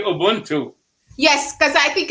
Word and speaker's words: Ubuntu: correct united we stand ubundu i think it should be ubuntu yes because i think